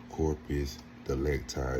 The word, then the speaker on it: corpus delicti: Corpus de lecti is how you say it.